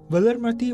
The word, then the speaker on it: Valarmathi: demise feels so sad pronounced unquote valermati was a member of